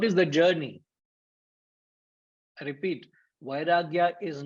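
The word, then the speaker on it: vairāgya: Sir, it is not Viagra, it is vairagya.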